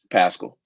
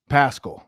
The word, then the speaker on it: Paschall: like about josh paschall i think is how you say his name out of kentucky pascal pascal that's what i thought okay what did you